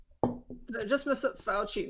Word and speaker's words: Fauci: Did I just mess up Fauci? No, it's like Foxy, but it's spelled like faux. Fauxxy.